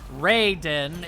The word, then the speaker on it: Raiden: Raiden is how it's pronounced in Mortal Kombat. So, Raiden.